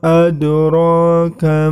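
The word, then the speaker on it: أَدْرَاكَ: Kemudian setelah itu adraka, di situ terdapat huruf qalqalah yang berwarna hijau, huruf dal, maka cara membacanya harus memantul. Adraka, seperti itu.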